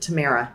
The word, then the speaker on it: Tamera: a weird kind of twist to it but Tamara right okay we're gonna dive into your work